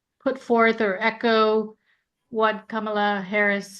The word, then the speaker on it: Kamala: point out Kamala um the way we pronounce it in India it's Kamala and um she's the her name is my grandmother's name same my grandmother's name was Kamala and so she says